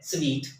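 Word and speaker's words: suite: जी तो हम उसको ज्यादा लोग सूट ही पढ़ने हैं लेकिन ऐसा नहीं है वैसे ही है यह है स्वीट जैसे की मैंने आपकी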